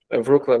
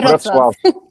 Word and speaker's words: Wrocław: Wrocław, não sei como é que pronuncia. Wrocław.